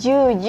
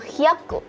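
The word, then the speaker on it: 百: Nah kemudian untuk 100 bukan juju ya teman-teman, tetapi dia ada bilangan khusus yaitu hyaku.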